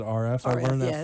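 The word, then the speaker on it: Arif: So I always say R.F. is the way to say that first name. It's actually A-R-I-F, but you pronounce it R.F.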